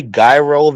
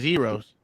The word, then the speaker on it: gyro: think Gyros hold on did he say guy roll and then you said what I said Heroes Vegeta's kind of silent but it was Gyros